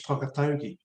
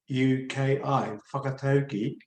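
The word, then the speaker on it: whakataukī: conference uh to what Maori referred to as whakatogi spelled w-h-a-k-a-t-a-u-k-i whakatoki or pronounce a Proverbs or metaphors that support critical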